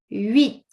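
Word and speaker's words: huit: We say wit. So look at uh how it goes there on the sorry on the face. Uh so first of all we do not pronounce the H.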